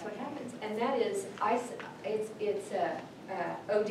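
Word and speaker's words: Oddi: And that is, OD is how you say that. It's OD. It's Schwinger of OD. I think I tend to say ODAD.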